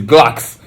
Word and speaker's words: Glucks: gles I was like no it's not gles it's Glocks and then I stopped